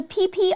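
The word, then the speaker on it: Phi Phi: I know it sounds weird because it's spelled PHI, but that is so cool.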